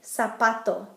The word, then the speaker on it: zapato: Z is going to make an S sound, like in zapato, shoe.